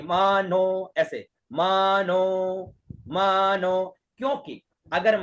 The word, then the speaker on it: मानो: लगा हुआ है, मानो, तो मानो का उच्चारण कैसे होगा, म ऊपर और नो बीच में, वही जैसे हरि के अंदर था वैसे मानो, नो के ऊपर आ रहा है, ठीक है ना,